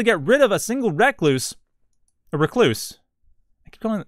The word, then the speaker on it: recluse: I was pronouncing wrong. I was like, no. Recluse. It's named after the brown recluse spider. Not recluse. At any rate.